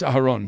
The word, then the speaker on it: Aharon: In Hebrew, it's Aharon.